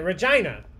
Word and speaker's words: Regina: Regina. It rhymes with China.